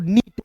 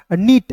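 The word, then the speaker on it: neat: यहाँ पे क्या पढ़ेंगे दोस्तों, नीट, एन ई ए टी, नीट, इसे नेट नहीं पढ़ेंगे, ठीक है ना।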